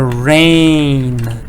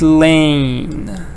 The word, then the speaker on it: rain: I was wet because of the rain, not lane.